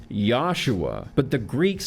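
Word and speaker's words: Yeshua: when Jesus was alive there was no J sound in Western language his name was Joshua which would have been pronounced yahshua but the Greek called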